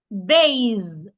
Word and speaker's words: bathe: Ba for the voiced th. My tongue must be outside also. And then I make vibration z bathe bathe ba bathe.